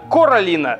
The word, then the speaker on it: Коралина: все дети её возраста Королина именно Королина Я произношу правильно Так вот Королина считает